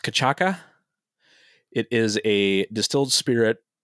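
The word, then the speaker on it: cachaça: So it's pronounced cachaca.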